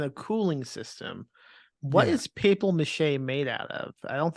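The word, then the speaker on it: papier-mâché: And it's pronounced papier mache. Papier? Papier. Papier? It's French.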